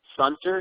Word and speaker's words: Sunter: It's Feligi-Sunter, and I can spell that if you like. It's F-E-L-L-E-G-I. Sunter is S-U-N-T-E-R.